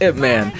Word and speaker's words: Ip Man: Is that how you say his name? Or IP Man? I believe it's Ip Man.